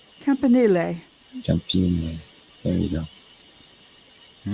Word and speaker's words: Campanile: I'm bad at pronouncing things. Put it in the chat. So There it is. St. Mark's Campani. Campine. Campanile.